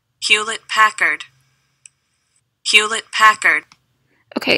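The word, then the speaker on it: Hewlett: pronounce it hila I think that's how you pronounce it I don't know if like the teaser silent um hula oh wait I think the te's are silent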